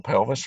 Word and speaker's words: pelvis: singular kayla sees plural that's renal pelvis rhymes with elvis and then there goes